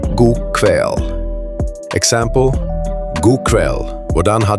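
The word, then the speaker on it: god kveld: God kväll, good evening, pronounced god kväll.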